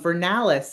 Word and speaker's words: Vernales: Um Vernales is like um so it's the spring kingdom technically. Winter happens there, but it's the one with the flowers. It's vernal like like the word for spring.